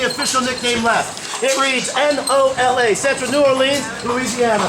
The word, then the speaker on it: NOLA: has our only official nickname left it reads n-o-l-a central New Orleans Louisiana pronounce it Nola all you have to write